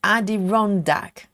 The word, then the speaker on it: Adirondack: that says Wisaki is what the name is pronounced in my area. Amanda says Adi Rondak.